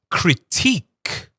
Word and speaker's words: critique: But here, the T is T. So it's critique.